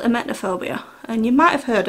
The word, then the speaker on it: emetophobia: I suffer with a severe phobia called emetophobia, and you might have heard of this before. I think I pronounce it correctly.